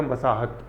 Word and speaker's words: मसाहत: तो पैमाइश का जो पर्शियन वर्ड है वो है मसाहत, मसाज नहीं है ये, मसाहत, मसाहत, हताहत भी नहीं है ना। तो ऐसे करके क्या मैंने दोनों वर्ड क्यों बोले, मसाज, हताहत, जिससे कि थोड़ा इसका प्रोनाउंसिएशन जबान पे चढ़े, मसाहत, महसूल, है ना।